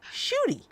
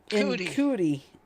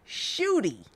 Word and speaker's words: Ncuti: NCUTI, but it's pronounced Shooty. Mm-hmm. Yeah, but knowing that woman, she would have pronounced it In cootie.